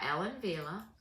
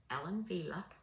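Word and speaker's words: Ellen Wille: coming she is by Ellen Villa Ellen Villa you know that's not a w it's a v it's a w but it's pronounced with a V so she reminds me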